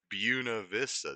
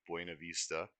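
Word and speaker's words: Buena Vista: The name Bunav Vista, Spanish for good view, can often be heard pronounced locally as Buuna Vista. This Americanized pronunciation was speci specified by Alcena Deerheimer, who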